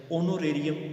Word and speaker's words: honorary: ऑनोरेरियम, HONORARIUM ऑनोरेरियम। आगे ऑनोरेरी, HONORARY ऑनोरेरी। ऑनरेबल, HONOURABL ये वो अल्फाज है जिनके शुरू में एच तो आता है लेकिन एच की आवाज़ जो है वो साइलेंट होती है, तो लिहाजा मतलब इनके शुरू में एन आएगा।